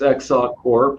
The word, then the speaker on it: XSOC CORP: Did I pronounce it right? Let me hear you say it. XSOC CORP. All right. Sure, it's XSOC CORP, which is an acronym, like everything in this industry, for Extensible Secure Optimized Cryptography.